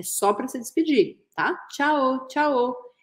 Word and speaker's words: tchao: para ser pedir tá tchao tchao e se escreve com o no final tchao então substitui o u por o inclusive é a silaba forte tchao tchao tchao assim que